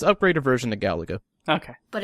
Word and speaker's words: Galaga: It's upgraded version of Galiga. There you go. I'm sorry. It's upgraded version of Galaga.